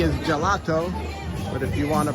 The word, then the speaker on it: gelato: GH sound will toggle it over from the J sounding gelato to the G sounding and ghetto GH.